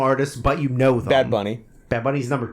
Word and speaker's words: Bad Bunny: Bad Bunny. Bad Bunny's number 2. And You also forget, like... And also you didn't say it correctly. Bad Bunny.